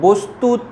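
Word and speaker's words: বস্তুতঃ: বস্তুত শব্দের শেষে আছে তাই বস্তুত উচ্চারণ হবে।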